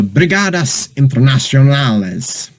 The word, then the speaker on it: Brigadas Internacionales: So, Brigadas Internacionales. I think that sounds, yeah, that one is Spanish. That's Spanish pronounced. It's not French.